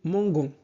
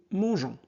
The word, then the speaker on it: mangeons: Donc, sans ce E, on prononcerait nous mangons. C'est bon? Très bien. Voilà. Donc, la bonne réponse est nous mangeons.